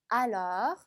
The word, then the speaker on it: alors: 제가 발음을 오가 아니라 마치 어인 것처럼 하라 라고 얘기했었죠. 자, 같이 한번 해볼게요. alors, alors. 자, 마지막 S 발음 안 되는 거 기억나시죠?